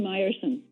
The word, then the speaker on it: Mierson: It's actually Mierson. Mierson, okay. Got it. Thank you.